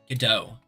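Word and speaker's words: Godot: Uh it's pronounced GDO, not God.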